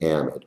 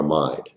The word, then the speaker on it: amide: If it has a nitrogen off it, it's an amide or amide. That's a Canada English pronunciation difference.